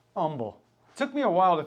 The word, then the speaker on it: Humble: See, when you're from Chicago, you say humble. That's how you would pronounce that word. Don't mispronounce Houston also. Yeah. Or someone does up there. Yeah. So no H's down here. Humble.